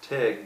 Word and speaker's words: Teague: Like I said, I believe their last names are pronounced Tigg, but it looks like Teague, like almost like a baseball league.